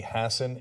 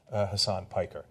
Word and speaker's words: Hassan: uh first of all Democratic candidate pronounced her name Maggie Hassen in order to avoid any association with Hassan uh so understandable she